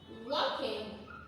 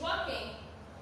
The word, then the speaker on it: walking: Donc she is walking. Donc on ne prononce pas le L de marcher. She is walking.